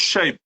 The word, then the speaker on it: Chaïb: Nous soutenir ko comme coach Tim et coach Chaïb.